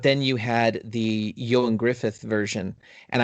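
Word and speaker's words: Gruffudd: you had the young Griffith version and I realize how his name is spelled but that is how it's pronounced I had to look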